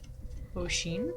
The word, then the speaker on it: O'Sheen: So Daniel O'Sheen. Mm-hmm. Okay. I mean, I'm assuming it's O apostrophe Sheen. Oh, exclamation point. It's just a fancy way of pronouncing ocean.